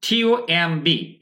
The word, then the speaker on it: tomb: এই যে দেখুন TOMB, এই উচ্চারণটা আমরা সাধারণত MB থাকলে বি এর উচ্চারণটা করি না, সাইলেন্ট করলাম আমরা সবগুলা।